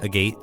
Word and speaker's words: agate: The other stone is a polished agate stone. I do believe it's pronounced agate.